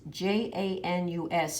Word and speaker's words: Janus: to the word janus the spelling in latin is j-a-n-u-s and they would have pronounced it janus and in his name